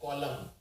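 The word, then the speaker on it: column: है जिसको बोलते हैं कलम कलम के अंदर भी आखिर में एन आता है और इस एन का उच्चारण नहीं किया जाता है तो ये है कलम और ये है ऑटम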